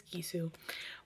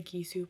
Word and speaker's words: Gisou: I think that's how you pronounce them. Jisoo. I don't think it's Jisoo. I think it's Gisou.